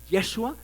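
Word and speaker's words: ישוע: traducción de josué josué en el hebreo se dice joshua pero no se no se pronuncia el yo de modo que es yeshua yeshua es el nombre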